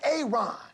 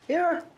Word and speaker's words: Aaron: A Aon. Aaron.